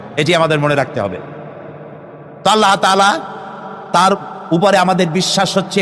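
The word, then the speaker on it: الله: নাম আল্লাহ বলেন তো আল্লাহ নয় কিন্তু আল্লাহ হচ্ছে অশুদ্ধ শুদ্ধ হচ্ছে আল্লাহ বলার সময় মুখটা গোল হয়ে যাবে বলেন তো সবাই উচ্চারণ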